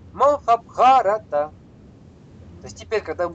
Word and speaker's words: Махабхарата: Да, то есть раз предпоследний краткий, то есть недолгий, то мы ставим уже хотим не хотим, деваться некуда, да, все правильно. Махабхарата.